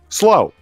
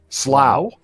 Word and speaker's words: Slough: Slow. It is not slow, and it is not sluch. Slough.